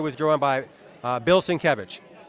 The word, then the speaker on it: Sienkiewicz: this beautiful cover was drawn by uh, Bill Sienkiewicz. Bill Sienkiewicz? Bill Sienkiewicz. I I can't pronounce that. All right, Sienkiewicz, all right. Trust me, his name his name is pronounced Sienkiewicz.